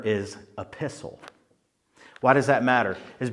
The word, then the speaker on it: epistle: Epistle sounds a lot like apostle, but it's not apostle. It's called epistle. Apostle spelled with an a. Epistle spelled with an e.